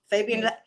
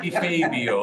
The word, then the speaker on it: Di Fabio: Okay, I just- Mr. Fabian, am I pronouncing your name correctly? Sorry. It's okay. They call me all kind of things. Okay, I have a. Di Fabio. If you sing it, Fabio? Di Fabio.